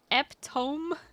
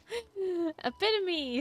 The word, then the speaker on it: epitome: Eptome. No. Epitome.